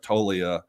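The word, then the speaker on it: Toglia: I love Michael Talia it's spelled t o g l i a but it's the G silent toia he's a power hitter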